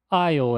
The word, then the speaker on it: aisle: Aisle é a pronúncia. Então você vê que o S e o E não têm impacto nenhum na hora da pronúncia.